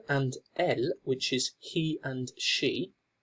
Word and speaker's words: elles: one is ils and elles. Now it's important to note that this S is not actually pronounced, so it would be il and elle, but just for the